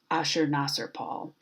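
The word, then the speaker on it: Ashurnasirpal: the slides here but the way that you pronounce this guy's name is ushered master Paul and one of my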